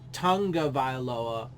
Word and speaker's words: Tagovailoa: Because that's really how, if it was, as it's pronounced Tagovailoa, it'd be pronounced, or it'd be probably spelled,